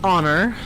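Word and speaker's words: Honoré: Rue Saint Honor. I'm sorry. Rue Saint Honor. Honor. Rue Saint Honor. The T is silent in French.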